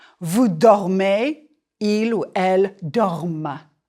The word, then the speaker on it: dorment: Nous dormons, vous dormez, il ou elle dorment. The ENT is silent, but it makes you pronounce the final consonant of the stem.